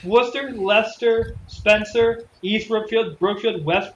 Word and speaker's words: Leicester: in club Valley anyway it's spelled Leicester but it's pronounced luster I mean we have